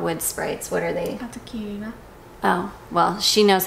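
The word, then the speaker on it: Atokirina: Katakina.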